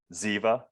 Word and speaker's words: Ziva: Ziva, like Ziva Meditation.